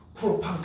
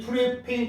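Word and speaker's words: propane: 그래서 우리는 아주 옛날식 발음으로 프로판 가스 뭐 이렇게 한다. 프로판 가스 들어봤니? 프로판 가스, 부탄 가스 이렇게 부릅니다. 원래는 뷰테인 프로페인입니다. 얘를 간단해요.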